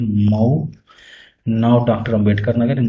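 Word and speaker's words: Mhow: Birth हुआ 14 अप्रैल 1891 में Mahar family in Mau, pronounced as मऊ, now doctor Ambedkar Nagar in Madhya Pradesh.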